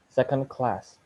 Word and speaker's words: second class: For example, uh, second class. Uh, Second class. The small symbol that before the word class indicates the stress syllable. The primary stress is on the second word. Secondary stress is on the first word.